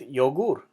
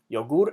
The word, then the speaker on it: yogur: Same with yogur. Yogur ends with an R, so it's yogur, not yogur, yogur.